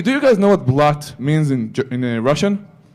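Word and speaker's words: блядь: Actually, do you guys know what blat means in Russian? They just say blah, but it's blat and it's spelled B-L-Y-A-D.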